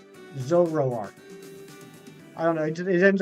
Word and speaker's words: Zoroark: always struggle with not because it's a hard pronunciation necessarily it's hard for me I say zorark Zoroark I don't know it ends up getting garbled in my mouth Zoroark uh Ricardo lefoni nice uh doing well yeah